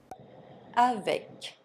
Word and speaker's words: avec: C, R, F, and L are pronounced as final consonants. Avec, le trafic, un déclic.